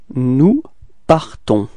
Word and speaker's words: partons: Nous partons. Okay, so final S is not pronounced as usual, so you only need to pronounce at the end this nasal, so O-N, on, alright, nous partons, repeat.